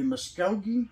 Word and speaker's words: Muskogee: The Muskogee, I believe is the way you pronounce it, the Creek Indians.